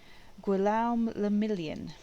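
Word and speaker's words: Guillaume Le Million: meant only one thing gualam lamillion if it doesn't rhyme you're not pronouncing it right oh oh dear um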